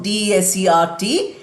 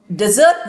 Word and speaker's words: desert: That is, the desert noun, and the verb is desert. Desert. That is the pronunciation for the verb form.